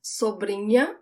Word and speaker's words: sobrinha: The sound of the NH, it's also not the tip of my tongue that touches the roof of my mouth. Sobrinha. It's the middle of my tongue. You could think about it as if there is a Y there instead of the H, but it's subtle.